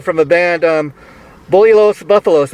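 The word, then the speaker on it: Los Búfalos: a band um boli los buffalos am i pronouncing the band name right yes sir you're pronouncing right your acting is way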